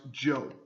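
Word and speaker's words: Zhou: talk about the Joe Dynasty uh Z is pronounced Joe uh the Joe Dynasty ruled from 1045 to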